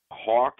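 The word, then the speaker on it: Haack: a couple years ago Hawk is definitely and I know it's spelled hack but it's definitely pronounced hawk he's definitely one of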